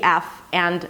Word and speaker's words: farther: In the word farther, the ah sound is there, so you got to make sure that you pronounce it fully. Fa, and then you bring the tongue up for the R, because you don't want to skip the R, because then it's going to sound like father.